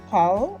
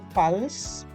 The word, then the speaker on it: parle: So please take note that the E here is silent. Here we don't pronounce, we stop at parle, we don't say parles. Then here we say parlons, here we say parler. Here we don't pronounce the ENT, we just stop at parle. So ENT is always silent in the il and the elle of the plural form.